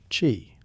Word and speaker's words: qi: At the center of it sits the idea of qi, pronounced qi, a kind of vital energy thought to move through the body along unseen pathways known as meridians.